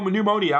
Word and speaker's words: pneumonia: A mild case of pneumonia. I can't say that word, man. I know it's not pneumonia. Pneumonia is like the P is silent, right?